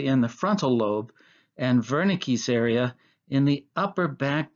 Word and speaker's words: Wernicke: this second is called wernicke's area it's pronounced wernicke because it's a german name it was discovered by